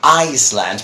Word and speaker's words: Iceland: A small country, and that one is to be pronounced Iceland, but because that is the name of the country, whereas the typical, islet thing, it's an island.